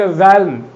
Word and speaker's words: realm: सांस्कृतिक परिमंडल जिसे हम कहते हैं, cultural, REALM, रैम, L silent, A silent, रैल्म है।